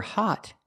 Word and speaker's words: hot: are making different sounds for hot you make the open sound like normal ah but dog the O